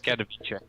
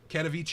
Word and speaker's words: Katowice: Was this in Katowice? I can't remember. I also don't know if I say that correct. Yeah, it's Katowice. Katowice.